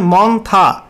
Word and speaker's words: মন্থা: তো সাবজেক্টে বলা হয়েছে সাইক্লোনিক্স টারম মন্থা pronunciation মন্থা over south West End এডজনিয়েনিং West central বে অফ বেঙ্গল।